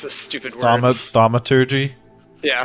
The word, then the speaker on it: thaumaturgy: I'm gonna cast, how do you pronounce this stupid word? Thaumaturgy? Yeah, thaumaturgy.